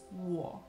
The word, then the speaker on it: 我: these in chinese mandarin so to say i in chinese mandarin it is war war the way to say